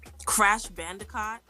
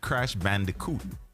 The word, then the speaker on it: Crash Bandicoot: ninja turtle like what crash bandicott yeah i know all of that yeah that's good you heard that storm just corrected your pronunciation what was that she said crash bandicoot not caught i'm not playing with